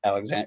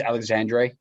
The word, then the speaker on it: Alexandre: I think it's Alexandre. If you're going to be Alexandre, okay. When he came in, I was watching Vancouver last week, and when he came in, that's how they pronounced it.